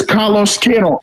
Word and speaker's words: Carlos Queiroz: You know, I have a Portuguese friend, and I asked him the pronunciation of the Portuguese coach. He said it's Carlos Queiroz.